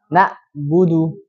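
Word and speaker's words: نعبد: Yang pertama, mengganti ain dengan huruf hamzah. Yang aslinya dibaca na'budu, bacanya gimana? Na'budu. Jadi harus ditekan, ain itu harus ditekan.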